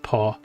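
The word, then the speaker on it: Pogačar: But, it's um, pronounced Pogacar.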